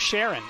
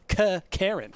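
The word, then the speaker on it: Charon: lot of crap because apparently it's not Sharon, and that's how a lot of people have said it. Sharon the Boatman is apparently pronounced Karen because he's a chthonic god or character.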